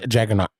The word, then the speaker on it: Jaggernauth: Is it Jagganauth or Jagganauth? It's Jagganauth. It's TH at the end. Yeah, but H is silent. The H is silent on it.